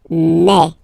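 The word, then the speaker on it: mes: Okay, so for the phonetical or pronunciation aspect of it, then remember that this ES here combined will give you the sound A. Okay, so you'll pronounce it like me, me, me.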